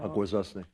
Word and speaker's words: Akwesasne: of Kahnawake, and I have a little trouble pronouncing this. So. Akwesasne.